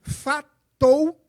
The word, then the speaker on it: Fatou: Aninha, se escreve Fatou, como no nosso vernáculo.